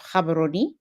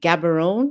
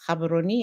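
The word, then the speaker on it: Gaborone: the beautiful city of Cababaroni. Most folks like to say Gabberon. It is not Gabberon. It is Cababaroni. It's not difficult to pronounce at all.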